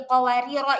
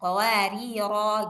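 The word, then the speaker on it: قواريرا: Kalau mau berhenti di qawarira ini maka panjang bacanya qawari. Enggak boleh dibaca qawarir. Enggak boleh. Karena dia kalau berhenti dia ini dibaca panjang dia qawariro gitu.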